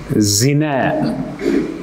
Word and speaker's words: зина: Бирок созулма ударение акыркы тамгага берилет. Зина деп 2 а жазылгандай болот, айтылгандай болот да. Бир а жазылат, бирок 2 а болуп окулат.